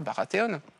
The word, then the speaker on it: Baratheon: Et Baratheon, vous me récupérez tout à l'heure, Baratheon. Pour une fois qu'on le prononce à l'américaine.